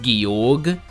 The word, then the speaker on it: Georg: Oh, it's pronounced Georg? My bad.